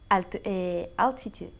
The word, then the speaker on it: altitude: Altitude. Eso es, por eso yo dije alti. Like we say altitude. ¿Ok? Altitude. Pero la T-U-D-E se pronuncia como una C-H. Tude. Tude. Altitude.